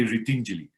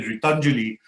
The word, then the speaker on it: Ritinjali: it means helping abs if you say ritinjali but if you're a good punjabi and you say ritanjuli then it means empty hands so we have to be very careful of the punjabi pronunciation of my ngo right so if but most people in in northern india say ritanjali so i have to keep telling them no it's written julie which meant hanging up so we've been